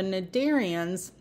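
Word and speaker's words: Cnidaria: tissue are the narian so the narian the sea is silent you just said in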